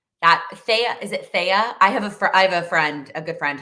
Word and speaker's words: Thea: It's pronounced Thea.